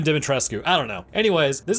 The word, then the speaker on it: Dimitrescu: just not my accent it's alcina de metrescu but i can't pronounce that consistently so we're gonna go with dimitresque or maybe even dimitrescu i don't know anyways